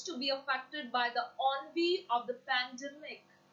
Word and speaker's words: ennui: Now the word is, now most of the time people say the word NY. The pronunciation is not NY, it's ONV. I'm repeating again, the pronunciation of this word is ONV.